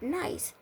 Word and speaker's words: nice: And then at the reason why the C is making that S sound is because it has a silent E at the end.